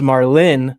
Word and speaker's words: Marlin: My name is Marlin with an L. Not I don't know Martin why I with a keep T.